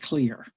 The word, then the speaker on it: CLR: accounts and this one I abbreviate CLR and pronounce it clear it's just an acronym